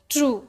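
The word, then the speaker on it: true: टी आर यू ए टी आर यू ई ट्रू डी आईई ड वैसे ही blue है ना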